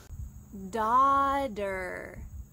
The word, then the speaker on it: daughter: i am a daughter notice the g and h are silent daughter notice the t changes to d in american english da der don't forget a clear r at the end of the word daughter say it with